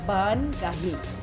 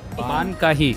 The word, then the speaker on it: Baan Kaahi: We wanted to bring, first of all, please tell us the right pronunciation of this word. Baan Kaahi. Baan Kaahi.